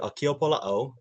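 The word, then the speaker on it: ʻAkiapōlāʻau: So this one is called the Akiopola'au, which is said a ki a po la au.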